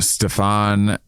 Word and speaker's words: Stefan: Stefan. It's funny that they're like, my name is pronounced like Bill Hader's SNL Stefan character.